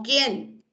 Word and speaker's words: quién: esta palabra quieto, o quién, o quiero. ¿Sí? La U sigue sin pronunciarse, ¿ah?